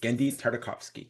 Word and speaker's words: Genndy Tartakovsky: Gendi Tardikovski. And and that in fact is how you pronounce it, isn't it, Gendi? Yes, it is. Gendi Tardikovski. Gendi because I hear Gendi.